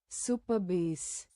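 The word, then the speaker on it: Supabase: Super super superbase. Super base. Okay, it's pronounced as a super base.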